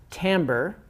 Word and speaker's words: timbre: looks like timbre or timber but it's actually pronounced timbre so pitch and timbre and that is really